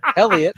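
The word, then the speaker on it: Heliot: how to ask Jesse how to pronounce it. Helia Elliot?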